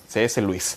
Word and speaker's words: Lewis: hay un escritor de cs lewis se escribe pero se pronuncia cs louis bien fue un hombre